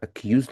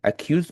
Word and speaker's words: accuse: Accused me for forgetting. This is a common mistake. Accused means blame. So, by the way, it's pronounced with the Z sound.